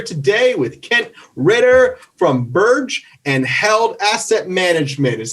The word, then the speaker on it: Birge: we are here today with kent ritter from burge and held asset management is that the right pronunciation kent yeah you nailed it great great